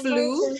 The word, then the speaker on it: flew: The plane fly over Flew, bacanya. Flew. the plane Flew. flew over the mountain. Yes, great job. Kalau ada E sama W, bunyinya U.